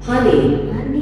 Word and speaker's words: honey: Tapi kalau misal ini katakanlah dan itu bisa maju bisa sayang ya. honey, H tetap H.